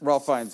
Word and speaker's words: Ralph Fiennes: the main character, Ralph Fiennes, how do you pronounce Ralph Fiennes? Ralph Fiennes, yeah.